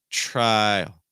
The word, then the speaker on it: trial: Oh, trial. Trial. Trial. It's not try, it's trial. Notice it's like two syllables pretty much.